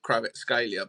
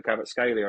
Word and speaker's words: Kvaratskhelia: I'm excited that you can say Kvaratskhelia better than I can.